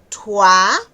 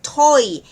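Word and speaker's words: toi: Okay, podemos llegar, está también la otra palabra que es tua. Podemos llegar a decir toy en vez de en vez de tua, ¿okay?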